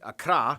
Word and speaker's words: Accra: of course the capital Accra yes that's how you pronounce it Accra located in the southeast